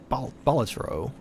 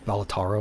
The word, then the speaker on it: Balatro: Balatro. I always thought it was Balataro, and I'm like, I don't think that's how those letters work.